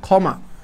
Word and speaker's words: ক্ষমা: আর ক্ষীয়টা যদি শব্দের শুরুতে থাকে তাহলে তার উচ্চারণটা কীরকম হবে? হ্যাঁ, এই ক্ষয়ের মতো হবে। কিসের মতো হবে? ক্ষয়ের মতো হবে। হ্যাঁ, ক্ষয়ের মতো হবে। তাহলে এই ক্ষয়ের মতো হলে কী হবে? খ ময়কার মা, ক্ষমা।